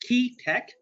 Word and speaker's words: QEA Tech: we get started uh qea Tech pronounced key Tech is short for quantifiable